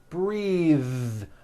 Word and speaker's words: breathe: like in bathing suit breathe same thing breath is a noun take a breath unvoiced but when you change it into a verb the vowel changes and it becomes breathe i am breathing with a voiced th now let's do some